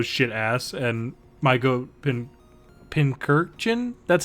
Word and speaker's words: Pincurchin: ass and my goat Pincurchin. That's how you say it. Yeah, Pincurchin? it's Yeah. it's And then- a combination of Pincurchin? pincushion and urchin.